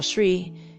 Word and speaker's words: Sri: SRI is how you spell Shri.